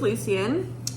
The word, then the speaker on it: Lucien: Also, apparently Lucien is Lucian, which absolutely not. I'm not calling him Lucian. That's just not right. Like in Harry Potter, it's Lucian Malfoy, not Lucian Malfoy. So his name's Lucien.